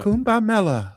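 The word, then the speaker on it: Kumbh Mela: Kumba mela.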